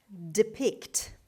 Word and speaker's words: depict: Depict, depict, depict. The stress is on the second syllable on P sound.